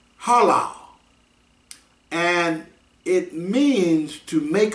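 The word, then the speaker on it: הלל: it's pronounced halal and it means to make a show to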